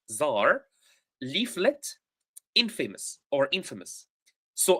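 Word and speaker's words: czar: so revolutionary com rates Zar that's how we pronounce it we pronounce it Zar leaflet inFAMOUS or inFAMOUS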